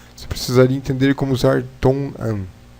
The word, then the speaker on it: 동안: Ilpun dongan, por 2 minutos. Shipun, 10 minutos. Shipun dongan, shipun dongan, por 10 minutos. Itul, 2 dias. Itul dongan, por 2 dias. Tongan.